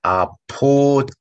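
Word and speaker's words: Apotheke: TH가 나올 때마다 우리가 T 좀 강하게 발음시켜야 돼. 예를 들어, 약국, 아포테케, 방법, 디 메토데, 알죠? 메소데, 아포테케 말고, 아포테케, 디 아포테케, 디 메토데.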